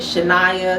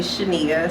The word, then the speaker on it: Shania: every time so yeah I get Shania Shayna all types of things but it's actually Shania so Shania is